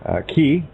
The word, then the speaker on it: chi: Key, which is X in our alphabet, looks like X. And it also, if you were to spell it out, C-H-I or C-H-E-E for the sound, you'd also come across